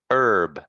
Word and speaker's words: herb: after me earn verb just so you know the H is silent so you don't need to say the just herb for that word um